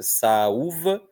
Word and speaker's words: saúva: Salúva é o u. Salva é o sal. Olha a diferença, né, de pronúncia. Saúva, salva. Em uma, o sonzinho de U é inteiriço, é forte, merece uma sílaba só para ele.